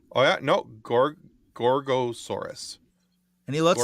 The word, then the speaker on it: Gorgosaurus: Oh yeah, no, Gorgosaurus. And he looks like a Gorgosaurus.